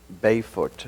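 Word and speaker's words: Bijvoet: where did how do we say his name byot oh yes actually we never mentioned that it was designed uh in association with a Dutch architect Bernard bayot yes B name I didn't know how to pronounce until yesterday yeah uh but uh he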